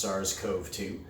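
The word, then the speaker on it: SARS-CoV-2: be looking specifically at SARS Kobe too I've also Ernest pronounced SARS Cove too but more recently I've heard Kobe - more often so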